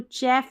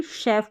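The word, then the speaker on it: chef: spelling है शेफ तो यहां पर सी एच का उच्चारण श के रूप में इसको चेफ नहीं पढ़ेंगे शेफ पढ़ेंगे तो तीन तरीके से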